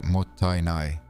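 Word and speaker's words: もったいない: The word is motainai, pronounced mottainai.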